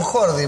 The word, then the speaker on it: Jordi: Muy bien, se me complica el Jordi con Jordi, porque es distinta la pronunciación, ¿cierto? Es distinta, pero sería esa J-L más o menos, Jordi, ¿no?